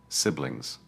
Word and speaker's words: siblings: Keep the I short, siblings.